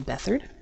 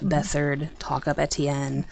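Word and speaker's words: Beathard: who in theory will be starting um Casey bethard yeah it's it's pronounced bethard I made that mistake many times to myself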